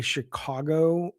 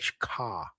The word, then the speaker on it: Chicago: When I hear people say Chicago right, I love it, but I never say it right. Like I don't say the caw. I say like Chicago.